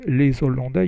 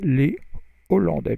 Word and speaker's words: les Hollandais: So you don't say les Hollandais, you say les Hollandais because the H is pronounced, or it's called H aspiré.